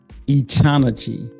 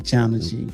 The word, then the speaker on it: echinacea: It's called now this one right here is Echanachi. That's what it sounds like. It's saying Echanachi.